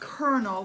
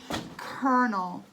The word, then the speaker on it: colonel: girl we're gonna have colonel we had a hard time pronouncing this word it's a french word colonel colonel henry ludington that's